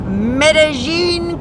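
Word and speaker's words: Medellín: yesterday today I left medine columia that's right they pronounce it medine medine Colombia medine however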